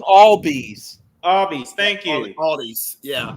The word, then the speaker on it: Albies: Pronounce all bees.